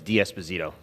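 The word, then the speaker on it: D'Esposito: you uh Mr Nadler the correct pronunciation of my last name is DS bazito thank you so the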